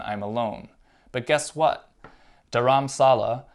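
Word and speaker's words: Dharamshala: alone but guess what dharam salah the locals say daram shala is one big hill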